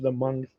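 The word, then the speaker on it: Hmong: I don't know if the monks I don't know if the monks do rain dances. I don't know. Right. H M O N G. Uh the the H is silent.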